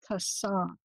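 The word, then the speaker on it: חָסָה: The Hebrew word for trust is kasah. It's spelled C-H-A-S-A-H, kasah, to make someone a refuge.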